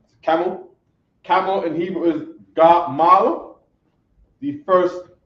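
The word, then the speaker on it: גמל: Camel in Hebrew is gamal. The first syllable of Gamal is Ga.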